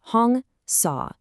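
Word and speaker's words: Hong-Sau: This technique is called hongsaw. That's pronounced hongsaw.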